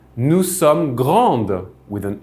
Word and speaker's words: grandes: would say nous sommes grandes with an S in the end. Since that S is not pronounced, you probably heard that it was pronounced the same way.